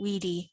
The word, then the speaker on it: vidi: i conquered when he weedy wiki think about if those words were written with a u at the beginning and it's actually the same sound pronounce a v like the letter u or w somebody had a question